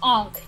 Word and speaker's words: ankh: mean because egg sounds it's ankh yeah it's on okay oh a h and it's not Inc you know it's not Inc because ink sounds like Aang yeah